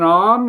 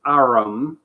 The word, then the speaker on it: arm: Sure, it's an arm, Your Honor. He pronounced it arum.